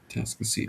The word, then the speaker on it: Atascocita: Atascocita End of the road for you guys here, so Atascocita Hey, you did say it right.